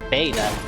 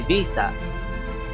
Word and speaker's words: beta: I learned is that the b in Greek beta it's not it's not like a hard be like like beta it's actually vaa so abacus is actually pronounced